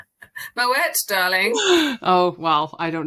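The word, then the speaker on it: Moët: we usually talk over Moe. Moet, darling. Oh, well, I don't know. You see, you're waving. You've got to wave. You've got to pronounce the T.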